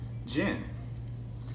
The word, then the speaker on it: djinn: At the bottom of the deck, we have Jinn. Because I remember when I first got it, I called it Jinn, but after watching Miss Marvel, I realized the D is silent.